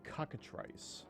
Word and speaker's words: cockatrice: not, but this is supposed to be a cockatrice that I'm writing. What? Cockatrice. Oh, is that how it's pronounced?